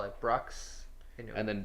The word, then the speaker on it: Brux: Brew No, but X. this is Brux.